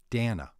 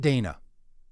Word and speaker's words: Dana: Dana, not Dana.